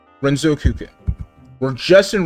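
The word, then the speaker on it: Renzokuken: let's figure out how to pronounce this and pronounce it correctly. Renzo Cukin. Renzouken. We're just in Renzoken mode all the time.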